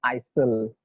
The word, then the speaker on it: aisle: So this word, how to pronounce it, you should not say it is aisle or anything other words, but it is pronounced as aisle seat.